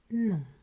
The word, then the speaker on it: non: Oui, non. And there we raise one of the main aspects of French pronunciation that relates to nasalization, meaning you will have to pronounce this sound through your nose.